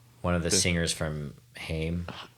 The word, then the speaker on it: Haim: of the singers from Haim yeah okay hi it's Heim I think so yeah I don't know how to pronounce it um yeah so neither